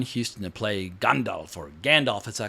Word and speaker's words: Gandalf: My accent, I know you're supposed to say Gandalf because I've seen Christopher Lee talking about the correct pronunciation of J.R.R. Tolkien. But when you've been calling a character Gandalf for decades, it's very hard to say Gandalf every time.